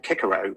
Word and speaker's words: Cicero: think um which is Cicero's tweets uh um although of course Cicero would not have Cicero would have pronounced his name kikaro because all C's in Latin were hard and in fact you